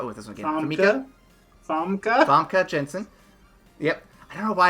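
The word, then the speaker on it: Famke Janssen: Famke Jensen. Yep. I don't know why I keep mispronouncing it. Famke Jensen. It's exactly how it's spelled, but I just don't see it.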